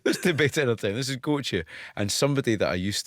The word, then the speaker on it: Gotye: brilliant stuff right I I think my pronunciation was wrong I've been saying go but you say goche well I've never heard